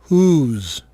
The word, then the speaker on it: whose: Ouçam agora 2 casos de palavras bastante usadas onde o W não é pronunciado. Whole? Whose.